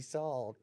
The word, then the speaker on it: Sall: So I was like, Jamie Sall Goodman. Oh my Saul God. Goodman. Literally. Actually, I think the original pronunciation is Sal.